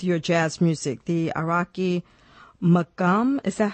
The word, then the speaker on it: Maqam: The Iraqi Maqam, is that how you pronounce it? Maqam, yeah. Maqam.